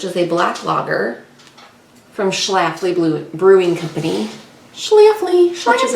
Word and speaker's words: Schlafly: And while we do this tag, we are going to be drinking Apollo's Orbit, which is a black lager from Schlafly Brewing Company.